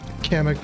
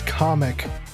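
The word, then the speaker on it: Kamek: The Mario Kart World Direct pronounced it as comic. Isn't that up? Do you say comic? Do you believe in that? I think that's kind of blasphemous and disgusting.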